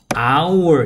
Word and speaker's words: hour: 근데 여기서는 H 발음이 안 나요. 그래서 hour 이렇게 읽습니다.